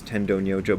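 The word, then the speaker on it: Tendō Nyojō: i learned his name tendon yojo because that's how japanese people pronounced it and that's how my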